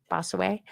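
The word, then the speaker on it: Bossuet: We will give a quotation from Bosu B O S U T Duet Bosuet. You wouldn't pronounce the Bosway.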